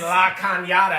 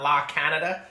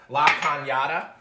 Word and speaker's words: La Cañada: The cups are brought to you by Anthony David in La Cañada. And that's how you say it, guys. It's not La Canada, La Cañada.